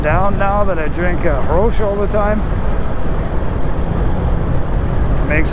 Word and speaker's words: Grolsch: So, but my beer of choice is a Grolsch, or as it's actually pronounced, a Grolsch.